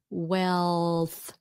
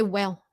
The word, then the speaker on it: wealth: That's how you make the L. Wealth. Wealth. Get used to doing that with your tongue. Wealth. Wealth. So don't get lazy. Wealth. N this is only one syllable just one syllable wealth. But if you just say well well you could be saying well well I don't know wealth just like the word health.